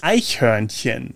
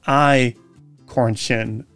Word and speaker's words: Eichhörnchen: Das Eichhörnchen, meaning squirrel. English speakers often struggle with the CH sound, which in this case is very soft, almost like you're gently clearing your throat.